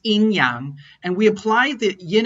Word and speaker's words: yin and yang: heard of the phrase yin and yang which in chinese is pronounced in yang and we apply the